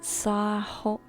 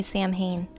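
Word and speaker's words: Samhain: know you don't say sam Hayne sa thank you I was like I know you don't say it like that and I the thing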